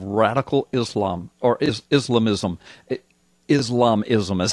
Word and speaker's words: Islamism: House Embrace of radical Islam or is islamism islamism is how you say it I'm sorry radical